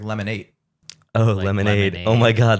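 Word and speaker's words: Lemon8: other reason behind it I think it's supposed to be pronounced like lemonade oh lemonade oh my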